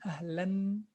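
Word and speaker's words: أهلاً: If we are to write this as part of pronunciation, it would have been ahlan. There would have been na here. But again, there's no na. Instead, there's this tanween. Yes, there's this tanween. So this tanween, it represents that na which is pronounced but never appears in the writing.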